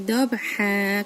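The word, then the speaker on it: ضبحا: Wal adiyati dobha. Oke. Nih ya. Dob. Ini ayat pertama di surat Al-Adiyat, selalu ada wakof. Oke, Ibu terangkan lagi. Dobhan harusnya, karena ada di akhir di wakof dibacanya panjang atau mat.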